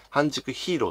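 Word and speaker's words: 半熟英雄: 競半熟ヒーローま半熟英雄と感じで書いてね半熟ヒーローと読むんですけども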